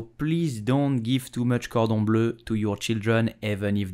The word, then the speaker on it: cordon bleu: So how do you pronounce it correctly in French? You will say cordon bleu, cordon bleu, cordon bleu.